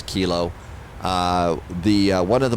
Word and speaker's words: kilo: here and see information Keela is still up uh still current at Chicago O'Hare so that's good to go to you may hear me mispronouncing information K I know it's kilo uh the one of